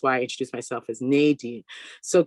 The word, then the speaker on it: Nadine: name is nadine or nadine that's like how people in france or jamaica or outside of america pronounce it and then when i